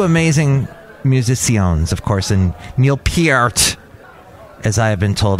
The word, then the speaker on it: Neil Peart: Two amazing musicians, of course, and Neil Peart, as I have been told I have to pronounce his last name now.